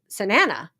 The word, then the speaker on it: Sanana: Um my name is pronounced just like banana. Oh, Sanana. Awesome. Thank you for clarifying that. Thank you for all that you are doing in our lives. You're welcome. Uh Sanana.